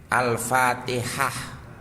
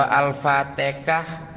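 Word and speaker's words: الفاتحة: ta ya dibaca ta ha ya dibaca ha Alfatihah ya membacanya begitu kalau alfatikah mungkin itu karena dia orang Jawa yang masih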